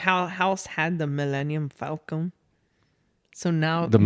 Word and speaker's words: Falcon: Millennium Palcon. What was that? Millennium. Falcon.